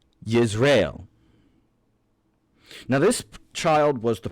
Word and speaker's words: Jezreel: The first child born of this marriage was Jezreel, or as his Hebrew name is pronounced, Yisrael.